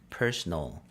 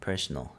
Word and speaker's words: personal: 이거 스펠링도 다르고 발음도 약간 다릅니다. 이거는 personnel. 이거는 personal. 강세가 다르고 뒤에가 nail이고 이건 null이죠. personnel. 오른쪽에 있는 거는 personal.